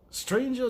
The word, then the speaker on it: stranger: in bravado much ado stranger does not rhyme with anger even though I just